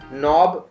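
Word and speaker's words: knob: यस, नॉब, नॉब में भी के साइलेंट है.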